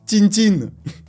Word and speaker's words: Tintin: D'ailleurs, nous, en Russie, on le prononce Tintin.